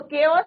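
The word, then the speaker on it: chaos: तो केओस का मतलब क्या होता है? इसका प्रोनाउंसिएशन क्या है बच्चों? केओस।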